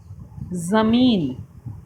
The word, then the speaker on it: ज़मीन: नुक्ता लगने के बाद उच्चारण, अक्षर का उच्चारण बदल जाता है। आइए अब कुछ नुक्ते वाले शब्दों को बोलकर पढ़ते हैं। बाजार, अखबार, ज़मीन, अंग्रेज़ी, सफ़र।